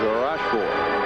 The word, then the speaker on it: Rochford: say roord or roord I think the correct pronunciation is rash rash he played against his